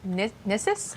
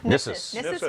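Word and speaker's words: Gnisis: We're in Nissus? Nissus Right now? Nissus. That's the only one I know for sure. Yes, in this right? one the G is silent, unlike in Dreg.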